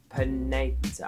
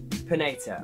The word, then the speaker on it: Panetta: The guy that messaged me, he's called Micheal Pineta. I might have got that wrong, hold on. His name is Micheal Pineta. I think I said it right.